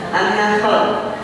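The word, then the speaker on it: النحل: itu namanya surah annahal Coba bilang annah anah dengan adanya sedikit annah anah maknanya beda annahr artinya Apa annahr artinya surat annahr artinya leb kalau ada aknya annahl apa Arya annahl poon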